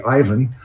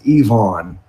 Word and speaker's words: Yvonne: to call Yvonne logs call him Yvonne I mean everybody wants their name pronounced correctly so you know we all naturally say Ivan but he correct this one day so I want to remind everybody this this is Yvonne and we got sister